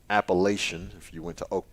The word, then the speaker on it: Appalachian: I have to make sure I correct myself because, my elementary school teachers failed me in pronouncing that word correctly. It's Appalachian if you went to Oak Brook Elementary in Sherwood, Arkansas.